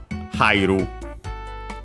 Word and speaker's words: hairu: The one used, hairu, accent on the first syllable, because hai is considered a diphthong.